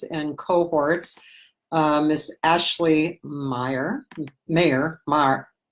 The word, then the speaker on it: Maher: Maher rhymes with star.